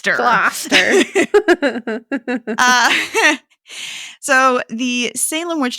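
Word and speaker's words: Gloucester: Topsfield and GL gler right that's how you pronounce it you did it gler gler uh so the Salem Witch Trials were not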